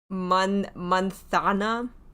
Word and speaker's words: manzana: Unless you're from Spain, then the Z is pronounced like a TH. Manzana.